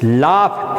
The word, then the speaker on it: laugh: लाफ, LAUGH, लाफ बड़ी अजीब है अंग्रेजी का उच्चारण, GH को फे बोलते हैं।